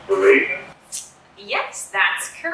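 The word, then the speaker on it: véraison: I believe it's pronounced Verazon.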